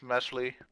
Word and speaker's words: Mesly: Melsley. So, Well, it's actually called pronounced Mesly, but what he said.